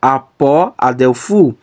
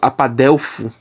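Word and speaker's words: ἀπ᾽ ἀδελφοῦ: Porque aqui eu poderia pronunciar apó, adelfu, e eu excluindo esse ômicron, que é a vogal da preposição, eu posso pronunciar como apadelfo.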